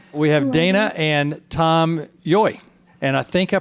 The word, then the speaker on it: Yohe: We have Dena and Tom Yohe. And I think I pronounced it right this time. You did, you got it. Lots of people pronounce it lots of ways. Yohe.